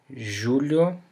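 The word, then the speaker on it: julho: J sound you know like the uh s makes in the word uh treasure as we saw before so we can have the word treasure which means the knee your body the knee we can have the word Julio J which is the month July the word Loa Loa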